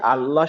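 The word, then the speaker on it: الله: হ্যাঁ, এইটুকু আপাতত জানেন যে এই এই আল্লাহ শব্দটার ভিতরে যখন লামটা থাকে, সেই লামের উচ্চারণটা সব সময় লা হয় না, কখনো ল হয়।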